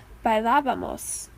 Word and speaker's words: bailábamos: For bailar, it's bailábamos. So it's important that you remember this accent in the nosotros form.